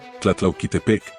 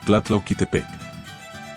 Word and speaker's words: Tlatlauquitepec: Tlatlauquitepec, Puebla, Tlatlauquitepec. Sí, se escribe como suena, y sí, está en Puebla.